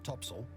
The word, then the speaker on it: topsail: included the four course four top sale pronounced topsail and four top gallant sale